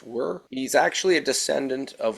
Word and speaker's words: wyr: very uncommon known as it's spelled wyr it's pronounced were he's actually a descendant